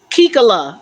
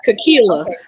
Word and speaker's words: Kila: in my brain cells my name ke Kila that's how you say it Kila hi hi my New